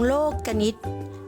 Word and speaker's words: โลกนิติ: กัน เลย ค่ะ โครง โลกนิติ อ่าน ว่า โครง โลกนิติ คำ นี้ นะ คะ นัก เรียน อาจ จะ